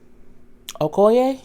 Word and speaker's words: Okoye: name in here um Okoye is oh it's okay oh ye her as a general